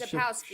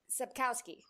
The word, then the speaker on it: Sapkowski: Andres Sapkowski.